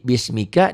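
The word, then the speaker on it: بسمك: Jadi bismika dihentikan jadi bismik hamas. Karena kapnya dimatikan.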